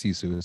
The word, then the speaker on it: Sisu: a lot of fun I've been mispronouncing it going to sisu which I was told beforehand that it's sisu so I'm glad that